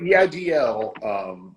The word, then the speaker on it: EIDL: So the EIDL, just think Monty Python, think Eric Idle.